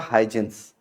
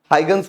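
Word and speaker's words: Huygens: थे, जिनका नाम था हाइजेंस। क्या नाम था, हाइजेंस। हाइगन्स कुछ लोग बोलते हैं, कोई हाइजेंस बोलते हैं, कोई हाइगन्स बोलता है। तो हाइगन जनरली उसका प्रोनाउंसिएशन हाइगन ही है, ठीक है।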